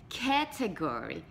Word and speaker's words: category: A pronúncia certa é category. Category, então o acento está no cat, ok? Lembre-se do gato.